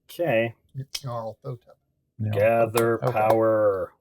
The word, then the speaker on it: Nyarlathotep: Nyarlathotep. It's the Y in there. Like I want to pronounce the Y, but it apparently isn't pronounced. And I'm out of power. No, it's pronounced very subtle. Okay. Nyarlathotep.